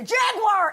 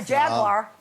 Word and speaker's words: Jaguar: roughly no not a Jaguar jagar if you're going to promote them at least learn to say it properly how am I Jaguars three syllables over here yeah you say you're